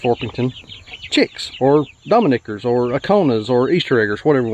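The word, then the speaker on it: Ancona: These are all Buff Orpingtons, Dominickers, Aconas, I think is how you say it, Aconas, and then Easter eggers.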